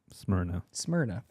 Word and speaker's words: Smyrna: Smyrna.